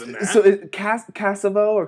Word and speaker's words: Cassavaugh: name so they cast cassava or cassava or is like castle always good it's pronounced Casanova with no no that's that's right that's